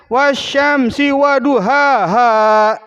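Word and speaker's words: وَالشَّمْسِ وَضُحَاهَا: nggak diperhatiin ya Woi Syamsi wa Bu Hahaha dibacanya wasysyamsi wadhuhaahaa Halo kalau baca kalau bacanya kayak gitu mah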